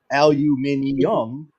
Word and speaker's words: aluminium: that one, yeah, it actually does say aluminium, not it is aluminum. correct. Yep, that aluminium is correct. But if you look up the actual pronunciation of it, both are correct, 100% Yes.